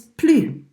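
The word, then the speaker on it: plus: home anymore anymore is plea please new no have a young blue de la maison the word plea when part of a negative expression don't pronounce yes because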